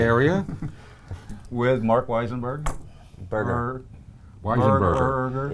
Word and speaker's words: Weisenberger: Weisenberger. Burger. It's a very long last name. Yeah. 4 syllables.